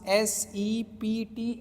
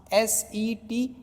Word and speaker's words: sept: So remember, most of the time I have seen that students pronounce S-E-P-T as a sept, but that is wrong pronunciation. So here P is silent, so only you have to pronounce S-E-T, set.